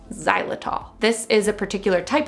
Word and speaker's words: xylitol: as the main ingredient it's spelled with an x xylitol this is a particular